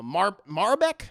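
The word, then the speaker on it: Maribel: in this film uh Marbeck is how you say her name maribek uh Verdu who plays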